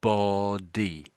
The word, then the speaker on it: body: sort of like slight almost like a slight gap. Body body and I think you're rushing it too too much maybe. So there's a very slight gap in between these two sort of syllables.